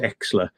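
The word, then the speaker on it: Oechsler: "Oh, people think that Bob Oshler's or Bob Exler, as he used to be Exler, yeah. called, because Bob Oshler, it's spelled like Oshler, but it's pronounced Exler.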